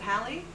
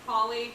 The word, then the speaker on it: Hallie: Who mispronounces Hallie? Like, what do they say? Holly, Haley.